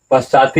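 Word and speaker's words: पश्चात्: उसके बाद क्या हुआ, पश्चाति ईसत अलसा, यहाँ उच्चारण क्या होगा, पश्चात ईसत अलसा अपि पलायिता।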